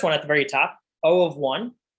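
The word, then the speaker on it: O(1): So the first one at the very top, O of 1, again, that's how you pronounce it, O of 1.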